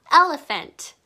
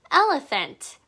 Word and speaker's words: elephant: 자, 여기 ph가 보이나요? ph가 두 개 같이 있을 때는 f 소리가 난답니다. 해볼게요. elephant. elephant.